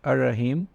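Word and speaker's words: الرحيم: And the next one is Ar-Rahim, and this is how you would say it in English, Ar-Rahim, and it translates to the most merciful.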